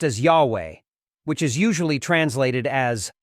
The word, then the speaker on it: Yahweh: interact with God whose personal name is yhwh pronounced as Yahweh which is usually translated as the Lord God